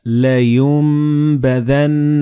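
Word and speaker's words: لينبذن: Like in this example, you read كَلَّا لَيُنبَذَنَّ فِي الْحُطَمَةِ. So the noon and ba, they will be assimilated together and you will pronounce them as meme.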